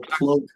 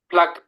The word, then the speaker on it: plaque: Okay, pronunciation's really important there. Plaque. Because I don't know if you're saying plaque or plug. Plaque, P-L-A-Q-U-E.